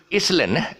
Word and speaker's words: island: okay uh this with island island is not island it is island okay the s is silent as yeah walk and